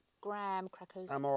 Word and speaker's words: Graham: Yeah, they are spelt Graham, but you guys pronounce them Graham.